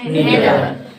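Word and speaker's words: neither: 3 ही word हैं आपको, each, ईदर और नीदर। बहुत सारे लोग आइदर पढ़ते हैं, बहुत सारे लोग नाइदर पढ़ते हैं, लेकिन ईच, ईदर और नीदर यही शुद्ध प्रोनाउंसिएशन है उसका।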